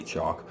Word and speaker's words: Chalk: one is the song Afraid by chalk um that's spelled c h a l k chock um yeah the song afraid um starts with